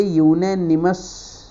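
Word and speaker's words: unanimous: अरे गाइस देखिए, जो ये यूनेनिमस जो वर्ड है, अगर इसका प्रोनाउंसिएशन देखेंगे ना, यूनेनिमस, तो ये से स्टार्ट होता है, फिर ये मात्रा लेता है, तो ये क्या है? व्यंजन है।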